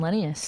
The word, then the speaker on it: Lenius: just my name Linnaeus you spell that one Apple it's a genius if you take the G off and you put an L so Ellie and I